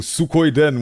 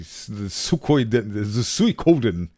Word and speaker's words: Suikoden: The Suikoden. I keep in my mind's eye. I keep pronouncing it Suikoden, but it's not Suikoden. It's Suikoden. That is fascinating.